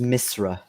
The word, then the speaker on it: Misra: it is all right it's pronounced misra misra all right because i didn't know what it was either before i read the book mizer yes misra house it sounds like someone trying to say miss and mister all at